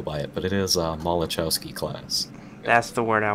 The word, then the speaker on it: Malachowski: Well, it's the USS Maxwell, so that's just the easy way to go by it, but it is Malachowski class.